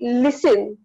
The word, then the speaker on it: listen: is solid but we listen so in the listen so in the listen you can see that the T sound is silent couldn't in the couldn't